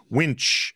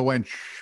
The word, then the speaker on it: winch: bring a winch sorry thinking a lot go ahead winch pronounce that carefully i did i would never call my wife a wench because i like living